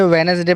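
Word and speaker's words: Wednesday: आज Baij hedge veg वेडनेसडे क्या करेंगे इसको वेडनेसडे पढेंगे वेनसडे पढेंगे सैंडविच अलग पढ़ने में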